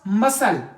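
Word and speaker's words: muscle: हो जैसे हमारे पास मसल मसल यहां पर मसल में क्या है सी साइलेंट है पेस्टिक यह जो काप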